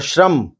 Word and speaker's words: शर्म: और श्रम, श्रम का अर्थ है मेहनत। शर्म, श्रम दोनों का उच्चारण अलग अलग है।